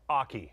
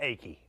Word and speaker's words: Aki: and correct the name it's Michael Aki like in hockey but I said achy I don't want to